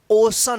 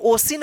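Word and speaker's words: ocean: ए एन, अब देखिए सी के बाद ई ए है तो इसका उच्चारण क्या होगा, ओशन होगा, क्या होगा, ओ श न, ओशन। ठीक है ना, इसको ओसिन मत पढ़िएगा, जैसे रूल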